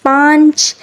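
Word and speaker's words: پانچ: अलिफ पा नचे नच पाच उर्दू में अक्सर नून साइलेंट होता है नून साइलेंट होता है तो उसके ऊपर चांद बनाया जाता है दाल वा दो ते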